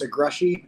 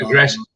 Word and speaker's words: Egresits: i don't master it it's a grushy eg r-e-s-i-t-s it's hungarian it's not aggressive aggression okay i would